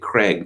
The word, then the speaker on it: Krieg: And then they had the quarterback after that was called Krieg, or they pronounced it Craig, meaning war, which is warlike by definition.